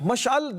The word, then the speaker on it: مشعل: مشعل جو ہے یہ اب یہ مشعل یا مشعل کہیں گے. مشعل درست تلفظ والا حضرت کا شعر ہے نا.